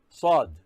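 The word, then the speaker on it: ص: be pronounced hard now we go to sod this is sod in sod saw sound should be hard and also it should be pronounced as if the mouth is filled with something sod then we go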